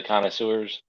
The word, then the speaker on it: connoisseurs: no nothing in there I know it's like the an underscore Conor like the name and sewers like well underscore and then sewers yeah because the worst